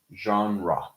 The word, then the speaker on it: genre: It's a different root, so the vowels are pronounced differently. Genre.